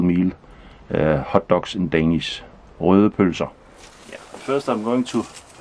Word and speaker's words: røde pølser: And these sausages is called røde pølser, and if you can pronounce that, you're a true Dane, because it's